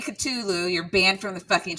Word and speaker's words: Cthulhu: It's Cthulhu. If I hear anyone saying Cthulhu, you're banned from the fucking chat.